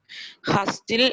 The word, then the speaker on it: hustle: Nita missed hustle and bustle of city life when she first moved to the countryside. Okay, it's not hustle and bustle.